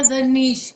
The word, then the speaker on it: Zarnish: ही है, जर्निश या जर्नीश? किस तरह से इसकी प्रोनाउंसिएशन क्या है और उसका मतलब क्या है? आप बिल्कुल सही प्रोनाउंस कर रही हैं. जर्निश ही है और मतलब है फ्लावर, फूल.